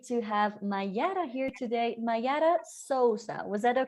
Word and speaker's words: Mayara Souza: Mayara Souza. Was that a correct Brazilian pronunciation?